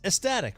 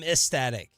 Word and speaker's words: ecstatic: to etic ecstatic right I say ecstatic but it's spelled EC did you never know that it is but I don't think it's ecstatic is it I'm etic I'm I'm ecstatic I'm ecstatic I say no one says I'm estatic estatic although that's more